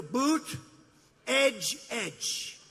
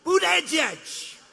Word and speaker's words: Buttigieg: Boot, edge, edge. Say edge like the edge of a building. Edge, edge. Boot, edge, edge.